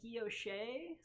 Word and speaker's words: guilloche: And if you want to pronounce this like a French person, you would call that guilloche, or you might have heard it pronounced as gouache.